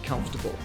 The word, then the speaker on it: comfortable: For example, take the word comfortable. Break it down into come, fort, bull. And practice saying each part before putting it all together.